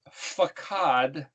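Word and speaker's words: פקד: we've mentioned before that that word pekuf dalit means is pronounced fakhad and means where he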